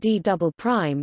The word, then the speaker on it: D″: The lowest part of the mantle next to the core mantle boundary is known as the D, pronounced D double prime, layer.